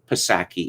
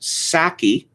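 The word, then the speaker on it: Psaki: not jennifer but jen passaki it turns out it is pronounced sacky uh the p is silent like the p in toilet uh i listened to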